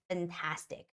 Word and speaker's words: fantastic: would say fantastic okay but in English it's fantastic make sure you make that proper F sound fantastic fantastic okay and the stress is on the second a it's fantastic fantastic